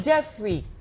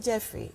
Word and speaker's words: Geoffrey: I keep saying Jeffrey. Yes, it's better. Yeah, it's the same pronunciation, but just that the British spelling goes like GEOFFREY.